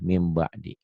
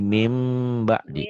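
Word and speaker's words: مِنْ بَعْدِ: Kalau ada mim gini, pasti dia iklab. Iklab. Bacanya min jadi mim ba'di. Mim ba'di. Jangan eng langsung. M dulu.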